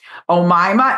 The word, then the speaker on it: Oma: Oma. And I mispronounced your name in the last buddy episode cuz I hadn't met you yet, but I know her name is Oma.